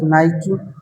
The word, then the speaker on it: Nike: Nosotros conocemos una marca de ropa deportiva que no se pronuncia así. Muchos le decimos Nike, otros Nike, pues el origen de esta palabra viene de esa diosa griega de la victoria.